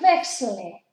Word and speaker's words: wechsle: Ich wechsle. Daos cuenta que no pronuncio la E.